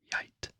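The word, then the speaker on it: geit: sons 's favorite is goat and that is y y y uh the G that is silent honestly so it's uh it's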